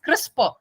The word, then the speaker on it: CRISPR: studies next is crispr it is pronounced as crisper which is nothing next